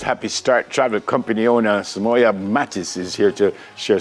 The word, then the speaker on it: Soumoya: I pronounced your name properly? Soumoya, yes.